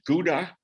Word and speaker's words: Gouda: in houda and uh or i think you could probably pronounce it gouda you know gouda cheese and born in